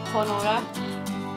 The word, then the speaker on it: Honora: Honora is the next one, so it's like Nora, but it's supposed to be a H-O in the start, like Honora, but a silent H.